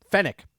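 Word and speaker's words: Fennec: fen uh finn right is that i can't pronounce her name now fennic thank you that's what it is fenic fenix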